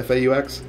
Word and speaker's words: faux: kind of made a fake rail or a faux rail as some people would say so that is pronounced it fo faux so uh no rail there no ridges on